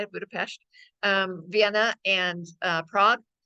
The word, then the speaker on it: Budapest: Budapest and that is how you say it Budapest um Vienna and uh Prague in mid-march and